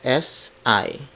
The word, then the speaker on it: si: I aku aku aku C is spelled as s I as I it's a marker that would